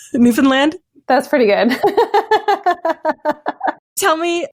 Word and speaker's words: Newfoundland: By the way, did I pronounce that right? Newfoundland?